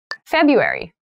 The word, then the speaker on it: February: cold here in january february february february so february has an interesting spelling that first r isn't really pronounced february is the shortest